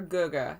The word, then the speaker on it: Gege: "Hey there, little Gege." Or Guga. That's how it's said, we decided.